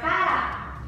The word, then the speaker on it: cará: E já a palavra com acento se torna cará, por causa do acento agudo.